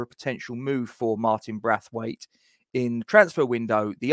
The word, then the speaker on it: Braithwaite: It is spelt Braithwaite, I know, but it's actually pronounced Braithwaite.